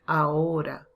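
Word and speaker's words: ahora: is the problem here the h so with this age let me just put it here it's silent as you know so we have to say aora so these h is silent is not a ho you have to join the two vowels but we have an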